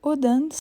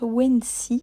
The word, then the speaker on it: Odense: Nous arrivons dans la ville de Odense, mais je crois que ça se prononce Wensi, qui se trouve au centre de l'île de la Fionie.